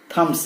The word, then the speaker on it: thumb: थम्स अप. थम, not thumb. THUMB, but pronounced as thumb.